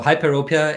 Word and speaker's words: hyperopia: when you talk about, and I'm trying to pronounce it right, hyper hypo Hyperopia.